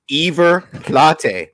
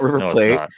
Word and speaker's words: River Plate: By the way, it's River Plate. That's how you pronounce it. It's not River Plate.